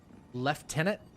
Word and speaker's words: lieutenant: How? And why do you pronounce this word like this? Left tenant. There's no F in this. There's no PH which would give an F sound.